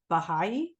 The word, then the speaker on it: Baha'i: wrote down and I don't know if I'm pronouncing this right is it Baha'i yes behind Okay so I wrote from there